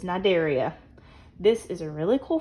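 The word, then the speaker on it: Cnidaria: remember that okay now the sea is silent this is nidaria this is a really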